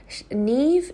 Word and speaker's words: Niamh: Okay, so my daughter's name is Niamh. Niamh. Niamh. So Niamh, it's spelt Niamh, but it's pronounced Niamh. And Niamh, imagine your knee with a V, Niamh.